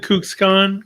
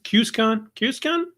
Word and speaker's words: CuseCon: everybody have a good kookscon cusecon you said it wrong and you said it right like a cue sure yeah yeah like a cue or cues Syracuse Syracuse have a good con